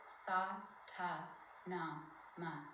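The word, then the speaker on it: Sat Nam: But we're going to inhale to the sound of Satnam, which means truth is my name or truth is my essence. But we're going to break it into its foundational syllables. Sa, ta, na, ma.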